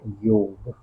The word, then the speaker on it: योग: the Western people came, they found it difficult to pronounce yoga, so they pronounce it as a yoga and it becomes habitual. But the actual word is basically what, yoga.